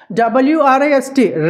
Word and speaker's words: wrist: WRIST, రిస్ట్. WRAPPER, రైపా. ఇవన్నీ కూడా W silent అండి. Whenever we find a word starting with WR, W is always a silent letter.